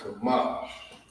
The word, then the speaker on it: Qadash: It's Qadash.